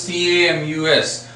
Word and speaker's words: Camus: So the first chapter, Albert Camus, first I'll tell you, actually the spelling is this. Albert. So this is C-A-M-U-S, but this is pronounced as Camus.